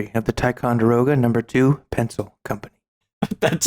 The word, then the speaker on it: Ticonderoga: wisconsin by frederick how do you say it togavega ticonderoga ticonderoga those are a very different word yeah